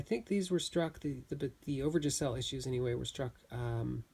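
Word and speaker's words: Overijssel: Now, the issues, and I have a hard time saying this, but I believe it's Overyssel, Overyssel is how it's spelled, / Batavia.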